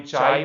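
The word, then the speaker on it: χ: हमने वहां पे देखा था इसके 3 प्रोनाउंसिएशन निकलते हैं, कोई चाय बोलता है, कोई शाई बोलता है, कोई काई बोलता है, ठीक है। वो आपके ऊपर है, आपको जो भी बोलना है। मैं इसको काई बोलता हूं तो काई टाइम्स एच वेक्टर, ठीक है।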